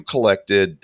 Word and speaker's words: Kollect: gamified collection card platform is spelled collect with a k collect duck hearts ethan welcome